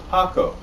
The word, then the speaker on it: Paco: of people that just can't pronounce the word Paco or the name Paco you know it's real simple Paco but uh it gets butchered a lot so he just tells